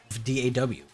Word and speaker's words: DAW: What is the current setup of your DAW PC? Is it pronounced DAW or is it pronounced D-O-W? D-A-W? DAW is easier to say, so I say DAW, but I think both are fine.